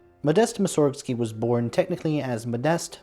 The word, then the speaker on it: Mussorgsky: we also know that originally his name had emphasis on the first syllable since emphasis can be